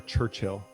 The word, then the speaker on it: Churchill: Is it Churchill or Churchill? Churchill. You kind of hit the L.